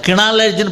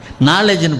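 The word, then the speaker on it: knowledge: அங்க உச்சரிப்பே இருக்காது சைக்காலஜி இந்த மாதிரி நாலேஜ் என்பது கே என் ஓட எல் இடி ஜி இப்படி கே வரும் முதல்ல கினாலேஜ்ன்னு படிக்க முடியாது நாலேஜ்ன்னு படிப்போம் அது போனுக்கு இல்லாத லாங்குவேஜ் அந்த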